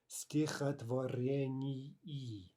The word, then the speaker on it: стихотворении: Okay, if we say that word really carefully, стихотворении, right? Two e's at the end of that word, e. And again, if we're not careful to say that really clearly as the two syllables that it really is, then it can kind